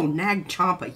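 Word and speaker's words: Nag Champa: Oh, Nag Chompa. Yes, I love Nag Chompa. Nong. Nom. Nom? Not Nom. Nag.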